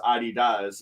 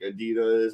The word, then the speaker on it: Adidas: ADI yes yeah yeah that's that's why it's pronounced Adidas and not like Adidas and it does it's not an acronym for